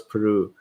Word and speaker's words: Peru: i have not and look how i pronounce peru i used to call it piru when i did this